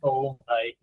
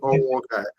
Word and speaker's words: Onwughai: It's actually pronounced Onwughai, but however you pronounce it. Okay, yes. Now I'll get it. Onwughai.